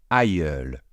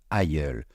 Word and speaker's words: aïeul: féminin ou quoi que ce soit, c'est toujours aïeul. Je répète, aïeul.